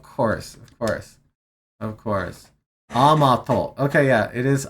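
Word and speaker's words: 甘党: Amato. Okay. Yeah, it is Amato. It is pronounced how I thought.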